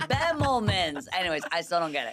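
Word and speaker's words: Bemelmans: a show um at I always say it wrong, Bemlman's because I was calling it Bellamman's.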